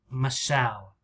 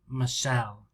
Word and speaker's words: Michelle: michelle most people say michelle michelle listen how many syllables michelle michelle michelle two syllables right one of the ways